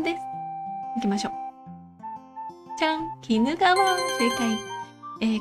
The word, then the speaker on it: 鬼怒川: ですいきましょうちゃん鬼怒川正解こちら鬼怒川と読みます日本三大河川の